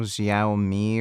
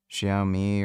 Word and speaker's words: Xiaomi: Um there's the Xiao something Xiaomi or whatever. Somebody told me I was pronouncing it wrong. Xiaoi or whatever.